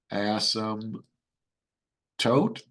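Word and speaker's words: asymptote: seen this word before ASM tote the p is silent right horizontal ASM toote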